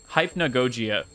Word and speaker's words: hypnagogia: adult money did you know hypn hypn goia hypnagogia they literally had the pronunciation guide in like the last level and